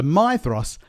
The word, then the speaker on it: Maedhros: So Maedhros, note the pronunciation of the diphthong I and the DH, that's a the sound, Maedhros.